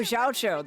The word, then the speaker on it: Xiao: Oh, Xiao. That's how his name's pronounced.